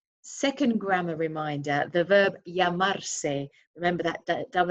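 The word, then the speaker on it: llamar: reminder for you second grammar reminder the verb yamar remember that dou L is pronounced as a y yamar to be called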